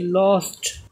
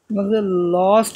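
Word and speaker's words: last: এই যে এস আছে লস্ট বলছি না লাস্ট বলছি লাস্ট হবে এল এস টি লাস্ট এই যে যে অ্যালফাবেট বা লেটার এ তারপরে আছে লেটার এস এই কারণে এই যে সূত্রের এখানে এই যে এস আছে এজন্য এখানে লাস্ট বললে আ উচ্চান আছে লাস্ট নট লস্ট এবার দেখি আরেকটা এফ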